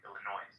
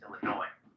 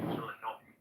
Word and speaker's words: Illinois: So I believe, and people are not saying Illinois, it's Illinois. The S is silent, Illinois.